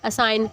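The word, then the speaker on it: assign: के जो चाकू है, असाइन, ठीक है, किसी को जिम्मेदारी सौंपना तो जी साइलेंट है, रेन रिजाइन भी यानी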